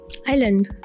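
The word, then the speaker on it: island: अच्छा मुझे बताओ इंग्लिश का वो कौन सा लफ्ज है जिसको जिसको लिखा जाए तो उसमें एस आता है। लेकिन जब उसको पढ़ा जाए तो एस साइलेंट आइलैंड आइलैंड मालूम यस आइलैंड।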